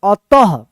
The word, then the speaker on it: अतः: अ और यहाँ पे त है, त के बाद क्या है, विसर्ग है, तो इस विसर्ग का उच्चारण क्या होगा, ह होगा, यानी त के बाद ह उच्चारण होगा, अतः।